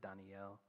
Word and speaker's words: Daniel: word Elijah um even Daniel technically Danielle three syllables um Dan judge I